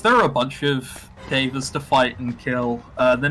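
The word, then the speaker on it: Daeva: Devas, not Davids. Yeah, they're called Devas. It's spelled D-A-E-V-A, I think. Yes, that is correct. Yeah. They're not called Davids.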